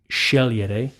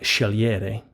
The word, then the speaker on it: scegliere: Again, that's pronounced scegliere, not scegliere.